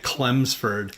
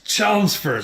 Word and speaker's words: Chelmsford: I did a show in Chelmsford last spring and I kept calling it Cleford and they were so like it's Chelmsford.